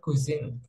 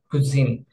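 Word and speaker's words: cuisine: প্রথম প্রথমটা হচ্ছে যে এটাকে বলা হয় কুইজিন, এটার উচ্চারণটা একটু খেয়াল রাখবেন। কুইজিন সেটার মানে হচ্ছে যে রান্না করার স্টাইল, যেমন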